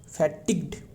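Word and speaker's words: fatigued: फैटिक ये साइलेंट हो रहा है। राइट? ध्यान में फैटिक फैटिक्ड ध्यान में रखिए। फैटिक्ड हो गया।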